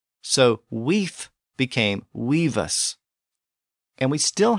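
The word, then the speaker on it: wīf: In Old English, the word was spelled W-I-F or win-I-F, and it was pronounced weef with an F sound at the end.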